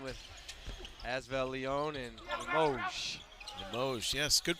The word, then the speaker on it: Limoges: Limoges, yes, good pronunciation.